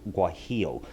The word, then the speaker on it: guajillo: Guajillo is the way it's pronounced. The Guajillo chili, it's a red guy, like this.